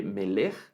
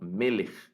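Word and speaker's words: מֶלֶךְ: me le da igual el acento en la primera sílaba no no se lee miller sino meles meles y la palabra me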